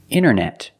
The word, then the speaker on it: internet: You have NT in the middle, the T is silent. Other examples, internet.